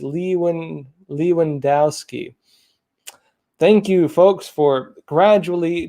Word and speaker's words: Lewandowski: he said joshua the the correct way to say the name is leewan lewandowski thank you folks for